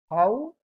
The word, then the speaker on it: häufige: Häufige, we can pronounce this like this. Häufige.